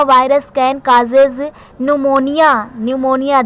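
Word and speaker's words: pneumonia: virus scan cars न्यूमोनिया न्यूमोनिया देख लीजिए meaning क्या होती है पीस साइलेंट होता है मारा न्यूमोनिया से वेरी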